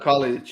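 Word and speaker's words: Kalinić: So Yeah, that how do you pronounce it? Kalinic? Is that his name? Nikola Kalinic, yeah, that's a Kalinic.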